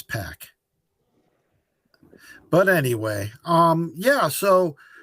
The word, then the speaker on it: Pac: Everybody mispronounces Pac. Poor Pac. Pac. It's Pac.